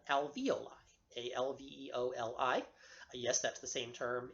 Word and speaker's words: alveoli: s the lobules contain milk secreting pockets called alveoli al vol i yes that's the same term